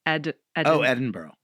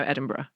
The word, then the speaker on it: Edinburgh: Edinburgh. No, Edinburgh.